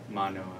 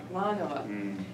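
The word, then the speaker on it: Mānoa: Manoa. Manoa.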